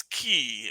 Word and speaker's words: qi: He is Goldhorn Penguin now, and he is eating everybody's chi, or it's spelled QI. And I learned that can also be a CH or a C sound, so that's what's going on there.